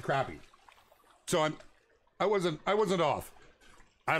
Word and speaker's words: crappie: You've known them to be called croppies. Okay. Okay. Oh, you're going mule deer hunting. Man. I'm jealous. In MD, you pronounce it crappy.